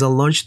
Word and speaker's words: launch: 근데 위에 있는 저것은 O하고 O의 중간 발음이에요. Launch.